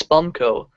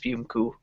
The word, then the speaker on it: Spumco: So the name of his country, which looks like it says Spumco, is actually pronounced Spumku.